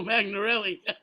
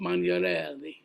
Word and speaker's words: Magnarelli: Sorry, name of Joe Magnarelli.